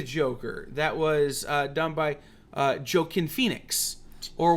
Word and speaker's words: Joaquin: the movie the Joker that was done by joke in Phoenix or Joaquin depending on how you say it the least